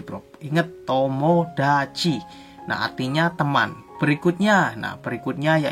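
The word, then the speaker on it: 友達: Basu artinya pusprop atau bis nah berikutnya yaitu dibacanya tomodachi blog hinge tomodachi nantinya teman berikutnya nah berikutnya yaitu dibacanya ini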